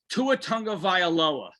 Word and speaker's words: Tua Tagovailoa: The first one being Tua Tagovailoa.